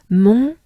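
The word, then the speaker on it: Mont: Mon here with the T, M-O-N-T, means mount. But again, we don't pronounce the T, right?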